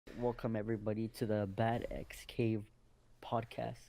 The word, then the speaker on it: BATXCAVE: welcome everybody to the bad XK podcast it's actually pronounced Batcave okay yeah bat cave because it comes from the world the word bachelorette which is a Catalan word yeah right well not